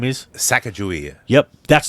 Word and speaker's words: Sacagawea: Sacagawea. Yep, that's not how you pronounce it. It's Sacagawea.